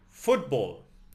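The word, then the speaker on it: fútbol: Football, a soccer ball. The emphasis is on the first syllable.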